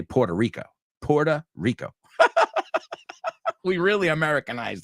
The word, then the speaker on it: Puerto Rico: Puerto Rico, a Puerto Rico.